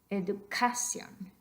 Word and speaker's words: educación: It's tempting sometimes because in English, that is exactly where you would accent that syllable, education. But we don't want that. We want educación.